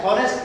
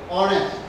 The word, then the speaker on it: honest: You cannot say you cannot say honest man. You have to say honest. H is silent here. As H is silent here, so this is vowel sound.